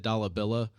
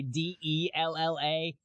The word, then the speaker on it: Dalla Villa: They'll always say Della.